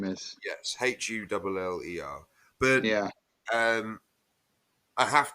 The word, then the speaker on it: Hüller: So I'm going to put, so for me, Lily Gladstone, and for you, Sandra Hula, did you say her name is? Yes, Huller.